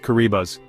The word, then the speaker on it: Kiribati: If you've never heard of Kiraabati, pronounced Kuribas, you're not alone.